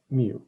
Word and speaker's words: mu: for population parameters and this one kind of looks like a u but we pronounce it mu and here is our